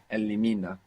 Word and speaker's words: elimina: Elimina. Elimina. Good. And we still have the accent on the penultimate syllable. Elimina.